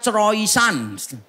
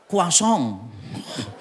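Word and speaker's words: croissant: Misalnya ini ya tulisannya croisan bacanya kuasong.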